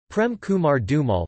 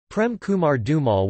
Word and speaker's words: Prem Kumar Dhumal: Prem Kumar Dhumal, pronounced Prem Kama R D U M L, born